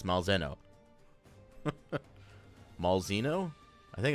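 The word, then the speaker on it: Malzeno: You're not sure how to pronounce Malzahno? It's Malzahno. Malzahno? I think it's Malzahno.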